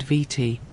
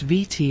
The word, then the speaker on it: Viti: The Tongans pronounced Viti in their own way, closer to Fiji or Fiji. And the Europeans, hearing the Tongan version, carried that spelling home with them, and it became the name the world adopted.